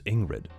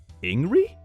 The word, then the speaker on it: Ingrid: In my country, a common name is Ingrid, and the D is silent. Ingri? Ingri. Okay, here it's pronounced like Ingrid, the whole thing.